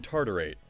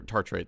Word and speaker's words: tartrate: work today i'm gonna say if anyone can pronounce it you can't escape it voltage it's ethylenediamine tartarate ethylenediamine tartarite yeah your tartrate thank you i got you oh yeah and